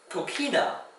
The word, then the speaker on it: coquina: Coquina is spelled with a Q-U-I for the ki sound.